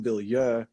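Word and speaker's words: Bilyeu: know who he was I called him Tom bill yeah you know he's like just getting started that's probably the right pronunciation though because it's a French name but anyway he calls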